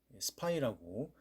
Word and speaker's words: SPY: 그래서 티커가 SPY, 스파이라고 읽히는 특이한 제목을 가진, 종목명을 가진 그러한 ETF인데요.